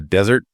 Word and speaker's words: desert: A desert, dessert, stress on the first syllable, that's the dry, sandy place like the Sahara.